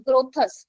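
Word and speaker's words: Grotthuss: ग्रोथस। ग्रोथस बोले तो स्पेलिंग मैं बता देती हूं।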